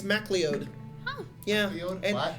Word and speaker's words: MacLeod: Well, apparently a lot of people mispronounce it. They say McLeod, but apparently he's like, no, it's MacLeod.